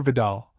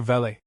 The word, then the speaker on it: Vidal: Edgar Hoover, and Gore Vidal, whom she mispronounced as Mr. Vele, and roasted them all.